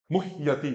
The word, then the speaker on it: मुह्यति: बोलेंगे तो क्या बोलेंगे, हाँ मुह्यति, मुहयति नहीं भी, मुह्यति, हा आधा ही बोलना है, अशुद्ध क्या हो जाएगा, मुहयति, गलत हो जाएगा, ये मुहयति, ऐसा भी नहीं, मुह्यति, मुह्यति, जो वर्ण जैसा लिखा है बिल्कुल वैसा ही बोलना है।